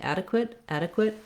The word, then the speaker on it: adequate: So it's easier to think adequate. You just really want this vowel to be reduced. It doesn't drop out entirely. You definitely need a syllable there, but don't spend much time on it and don't give it any clarity. Adequate. And then lastly, the qu, the QU, says the k and w sounds together.